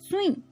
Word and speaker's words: सुई: देखो सुई की स्पेलिंग देखो, सा को छोटे की मात्रा, सुई। ये हमारी बड़ी ई है, इसकी मात्रा, इसकी आवाज कैसे आती है? लंबी साउंड जाती है, सुई।